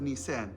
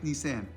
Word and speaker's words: Nisan: year, the month of Nisan. Yes, I know, that's how Egyptian uncles pronounce Nissan, as in the car, right? Nisan.